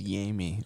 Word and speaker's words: Yami: it's not Jamie. It's Yami.